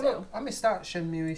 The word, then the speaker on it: Shenmue: It's Shenmue.